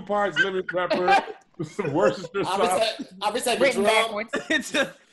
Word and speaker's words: Worcestershire: Some Worcestershire sauce.